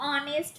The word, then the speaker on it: honest: तो dash ऑनेस्ट मैन यानी एन ऑनेस्ट मैन, क्योंकि एच का साउंड, एच आपका कॉन्सोनेंट है, बट ये प्रोनाउंसिएशन क्या दे रहा है? आपका वाउल वाला दे रहा है।